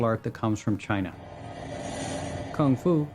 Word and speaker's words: kung fu: that comes from China kung fu or Gung Fu as it's sometimes pronounced is a Chinese word